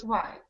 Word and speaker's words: quiet: Qui is Qi T quiet has two syllables and quiet has one so I need to hear you say quiet not exactly say the last syllable first the last syllable is yet yet quiet quiet quiet quiet